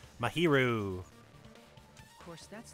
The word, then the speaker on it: Mahiru: That's how you pronounce her name. Mahiru.